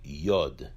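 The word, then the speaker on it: י: Hebrew alphabet is a yard yard has a numerical value in the of ten the yard is pronounced as a yeah the next letter of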